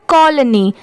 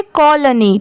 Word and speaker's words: colony: इसे कोलोनी ऐसे नहीं पढ़ेंगे स्पीड में, कॉलोनी ऐसे पढ़ेंगे।